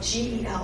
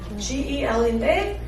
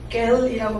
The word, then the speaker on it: gel: 겔이라는 단어는 사실 it's GEL, right? GEL인데 단 한 번도 원어민이 겔이라고 발음하지 않는 단어예요.